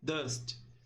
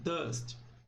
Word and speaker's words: dust: Ela se pronuncia dust. Então, dust. O T é bem suave, nada de dusty, não, é dust.